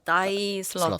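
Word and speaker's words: Thy Slaughter: 다이 다이 슬러터. 슬러터. 이 철자가 THY예요. 네. 그래서 읽을 때 약간 발음이 혼동이 있는 이름인데 한번 찾아보시면 좋을 것 같습니다.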